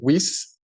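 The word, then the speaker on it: Wiest: Weiss.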